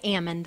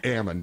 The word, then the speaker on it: Amend: I think I am again it's Ammon Ammon thank you that's okay